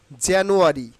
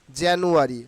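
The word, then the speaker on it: January: এভাবে উচ্চারণ করতে হবে জানুয়ারি জান নু আরি জানুয়ারি নট জানুয়ারি কি হচ্ছে দেখেন এই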